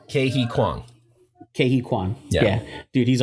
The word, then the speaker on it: Ke Huy Quan: Ke Huy Quan. How do you pronounce it? Ke-Huy Kwang.